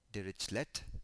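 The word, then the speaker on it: Dirichlet: a derish boundary condition some might like to pronounce it as derlet boundary condition but the derish lay boundary condition basically gives a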